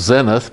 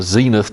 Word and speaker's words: zenith: Should be pronounced zenith, but when they had the zenith televisions and everybody started calling them that, the pronunciation of the word kind of changed, and it's a losing cause and not that important to get it right. So zenith or zenith, as you prefer.